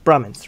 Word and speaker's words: Brahmins: Brahmins? Brahmins, right? The edge is silent.